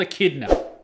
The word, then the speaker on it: Echidna: and oh boy echidna am i mispronouncing that is that echidna why are you called echidna but it is nope you're pronouncing it correctly echidna you are called